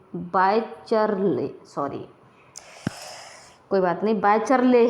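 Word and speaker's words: Wycherley: हैं तो इसका नाम लिखेंगे और बाय विलियम बाइचलर भी कह देते हैं, बाइचरले, सॉरी कोई बात नहीं, बाइचरले है इनका सेंस, पूरा सही जो प्रोनाउंसिएशन है वो थोड़ा सा कोई।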